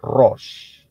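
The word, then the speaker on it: ראש: Itu bunyinya, ya, pronunciation-nya atau pengucapannya adalah Rosh.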